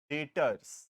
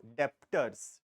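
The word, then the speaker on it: debtors: डेटर्स ठीक है clear तो अल्फाबेट बी इज साइलेंट। ठीक है? Don't pronounce is eight as डेप्टर्स। डेप्टर्स नहीं होता है। ठीक है? क्योंकि हम हैं तो क्लियर बोलना इंपॉर्टेंट है। Don't say डेप्टर्स। ठीक है? इट इज़ नॉट डेप्टर्स। The word alphabet B is silent. Retain but इट इज़ not pronounced. ठीक है? तो we will pronounce as डेटर्स।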